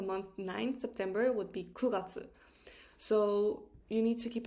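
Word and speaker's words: 九月: um sorry the month nine september would be kuratsu so you need to keep in mind that month 4 7 and 9 are pronounced just a tiny bit difference meaning that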